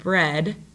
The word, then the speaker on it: bread: The digraph EA, okay, that is another spelling for a short E sound. So when I say the word bread, the vowel sound makes